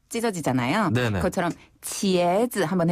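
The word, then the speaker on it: 茄子: 할 때도 입이 벌어지나요 옆으로 쫙 찢어지나요 그것처럼 치에즈 한번 해 보세요 치에즈 치에즈 치에즈 아 우리가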